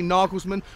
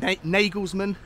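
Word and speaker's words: Nagelsmann: take over at Tottenham I say nagelsman I've been saying nagelsman but I've been called out in every video for getting his name wrong we'll sing what we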